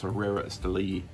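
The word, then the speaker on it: Herrera Estelí: love these herrera sleeves actually found out that i was mispronouncing it it's herrera steli s delhi i cannot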